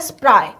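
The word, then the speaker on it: spry: Next with her स्प्राय, ये देखो antonym पूछा है, इसका प्रोनाउंसिएशन है स्प्राय।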